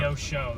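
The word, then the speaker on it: Neosho: Neoso. Yeah. Neoso. That's how you pronounce it.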